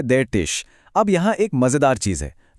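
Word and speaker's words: der Tisch: जैसे यहाँ देर का मतलब है कि टिश यानी मेज एक मैस्कुलिन शब्द है, और इसका उच्चारण है देर टिश।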